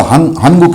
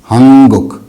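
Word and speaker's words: 한국: के मुंह से, तो इसको हनगुक नहीं कहते, वो इसको कहते हैं हंगुक, हंगुक। तो ये जो गीयक था ये ईयन पढ़ा जा रहा है, गीयक जो था ये ईयन पढ़ा जा रहा है। तो हंगुक, हंगुक, नॉट हनगुक, हंगुक।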